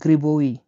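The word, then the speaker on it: грибы: তো জি আর আই বি ওয়াই এই বি আইটা উচ্চারণ হয় ওয়াই হিসেবে তাহলে গ্রিবুই গ্রিবুই গ্রিবুই মানে হল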